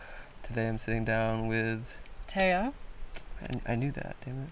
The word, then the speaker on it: Thea: Is that like T-E-H-A? Taya? Yes.